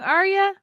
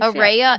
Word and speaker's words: Ara: for like a year it's like array of light Araya light I've been saying arah I said it wrong